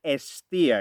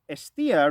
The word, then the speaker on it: Hestia: Hestia is written with an H in English, but it's a silent H. So it is Hestia. It's not Hestia, it's Hestia. Like we would say, so we wouldn't say it like H, like we say Helen. We would say Ellen.